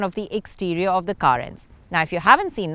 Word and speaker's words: Carens: Yes, Carens is how it is pronounced because it's an amalgamation of car and renaissance.